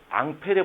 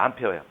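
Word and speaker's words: Ampère: 자, 일단 자, 먼저 앙페르의 법칙 한번 보자.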